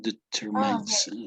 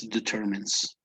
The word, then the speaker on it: determines: would read determines okay it's not determined it's determines okay that yeah that's a